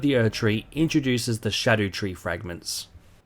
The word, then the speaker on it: Scadutree: earth tree introduces the shadow tree fragments Shadow tree fragments apparently not pronounced scoo tree fragments despite it sounding way more fun scoo the problem with